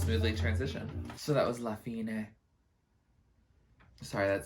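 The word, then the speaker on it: La fine: they are King arrests they pronounce lafina oh that sounds familiar slapping it no I don't know any of the other lyrics oh it does almost smoothly transition so that was lafina sorry that sounds very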